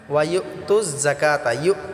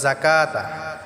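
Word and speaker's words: الزَّكَاةَ: এক আলিফ টা পড়বো যাকাতা এটা আমরা ঝটকা দিয়ে উচ্চারণ করব যাকাতা এখানে কাফ খারা জবর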